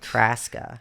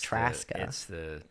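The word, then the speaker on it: Trzaska: Just the Z is silent. Traska. So it's like Alaska, but it's Traska.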